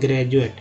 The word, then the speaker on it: graduate: जैसे एक वर्ड ले लेते हैं ग्रेजुएट, GRADUATE, ग्रेजुएट में डी का उच्चारण ज होता है।